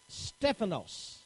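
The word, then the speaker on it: στέφανος: my note is to give you the proper pronunciation for that word all right we find that the word was actually here Stefanos okay and that means three different meanings to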